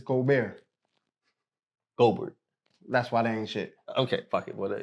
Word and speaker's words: Gobert: That's how you pronounce it. Go. It's Go Bear. Goldberg. That's why they ain't Okay. it. What your name? Gobert.